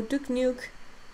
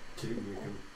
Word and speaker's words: Duke Nukem: Michael made a video essay on how Duke Nuke saved him by... Duke Nukem.